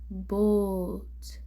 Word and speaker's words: boat: And lastly is OA. So O will be pronounced, A will be silent. So O, boat, boat.